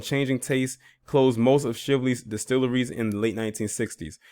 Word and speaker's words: Shively: reputation as lively shively okay so it is shively based on how they wrote that as the name of the town is pronounced with a long eye this is a